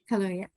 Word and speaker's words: Kaluuya: Kaluuya.